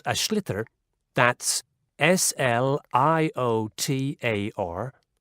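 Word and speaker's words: sliotar: basically you have to get this ball called ash litter that's SL IOT a or so it's not spelt the way it's pronounced u his ears into the net for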